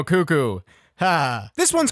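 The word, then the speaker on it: Cucco: that i'm gonna say cuco i'm gonna say cuco wait you know it's got it's got two o's it's got two cuckoo cuckoo there we go cuckoo ha this one's called cuckoo hunt and uh well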